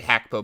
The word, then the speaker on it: Gakpo: in front of you it's gakpo it's actually hackpo but no one calls him that um he said it